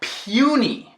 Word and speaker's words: puny: Tipo na palavra puny. Puny. Aqui fala o próprio nome, o A-E-I-O-U no inglês. Puny. Mas quando colocar outro N, torna-se punny.